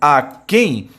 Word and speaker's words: aquém: Então, tanto além como aquém trazem a sílaba tônica na última posição.